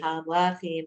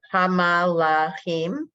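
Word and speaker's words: הַמְלָכִים: Hamalachim. Nope. Hamlachim. Hamlachim. Yep. The first 2 letters are 1 syllable.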